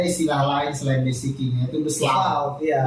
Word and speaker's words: besluit: Padahal dari referensi-referensi lama pun sebenarnya sudah ada istilah lain selain basiking, yaitu beslaut. Iya. Beslaut ini tulisannya tulisannya besluit. Bacanya beslaut. Dibacanya beslaut.